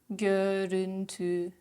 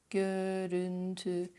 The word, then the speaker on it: görüntü: Gül, gül, söz, söz, gökyüzü, gökyüzü, gözlük, gözlük, görüntü, görüntü. See how everything is at the front.